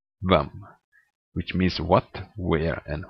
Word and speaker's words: hvem: Finally, silent H in words starting with HV.